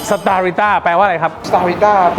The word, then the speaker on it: Starita: ประเทศ ไทย ร้าน มัน อ่าน ว่า ชื่อ สตาริต้า starita แปล ว่า อะไร ครับ เป็น ชื่อ ที่ มา